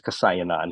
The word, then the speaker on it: Kaosayananda: My last name is Kasayananda, which is 12 letters long.